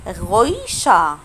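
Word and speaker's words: Geräusch: غويشة. غويشة. طب ايه ده يا فراو؟ انت ما نطقتيش حرف الار يعني في الاخر.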